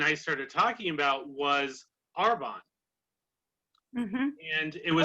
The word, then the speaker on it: Arbonne: started talking about was arbonne and it was oh you said it right this time i did listen i have to apologize because normally it comes out like air bond or bomb something i